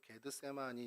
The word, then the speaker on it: 겟세마네: 싶은 마음이 있는데요 어이 겟세마네는 기름 짜는 틀 아까 말씀드린 것죠 게드 세마라 이제 헬라어 발음으로 실제로 게드 세마이 이렇게 되는데 그런 뜻이고